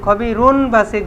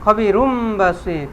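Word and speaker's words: خبير بصير: উচ্চারণ হবে খবিরুন বাসির খবিরুন বাসির ছিল খবিরুন এখানে নুন তানবিন উচ্চারণ হবে না কি হবে মিম দ্বারা পরিবর্তন হবে খবিরুম বাসির এবার বুঝতে পারছেন ঠিক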